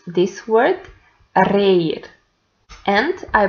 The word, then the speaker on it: reír: have two letters R, one at the beginning that is pronounced strongly and one at the end that is pronounced softly. So, we pronounce this word reír, and I pronounce the